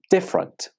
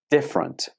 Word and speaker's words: different: only has two syllables different different many students say this with three syllables but that's not correct it only has two syllables repeat after me different